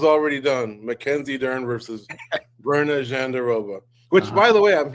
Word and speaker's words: Virna Jandiroba: And so I believe she says, Virna Jandiroba, we're calling her Virna Jandiroba or whatever.